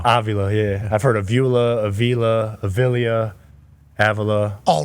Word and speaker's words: Avila: And I'm pronouncing this right. Robbie Avila? Avila, yep.